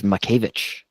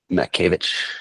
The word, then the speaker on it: Mackiewicz: you could go the the Polish pronunciation is mavich mavich I like that but